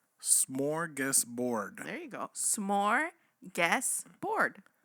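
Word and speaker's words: smörgåsbord: it slow smorgus smorgus Bor there you go smorgus board smorgus board there you go there we go see and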